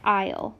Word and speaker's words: aisle: The first word is aisle, and I know it's spelled kind of funny, but you pronounce it aisle, like walking down the aisle.